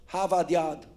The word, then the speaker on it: Harvard Yard: הם לא מבטאים את ה-R. Harvard Yard.